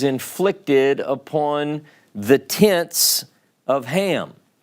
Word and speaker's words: Ham: upon the tense of ham tense of hum is the way it's actually pronounced but the idea is